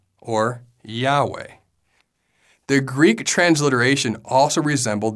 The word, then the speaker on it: Yahweh: to the syllable way when all the vowels are pronounced together it sounds like Yahweh or Yahweh the Greek transliteration also